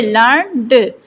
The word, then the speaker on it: learn'd: जाता है, जैसे कि लर्नड। Here it is pronounced as 1 syllable to reflect an ordinary person's way of speaking।